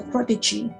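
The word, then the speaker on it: protégé: So protege, that's the way how to pronounce it.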